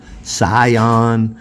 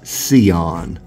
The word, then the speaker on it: Sion: Charles Heitzman pronounced the word, it is Sion. Like S-E-E-O-N-N, Sion.